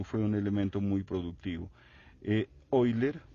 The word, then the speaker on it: Euler: cálculo de los límites, Euler u Euler como lo pronuncian en Europa, que él aportó mucho